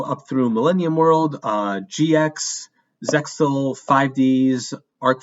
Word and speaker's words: Zexal: I believe that's how you pronounce it. Zexal. I've heard Zeal, but I think it's Zexal.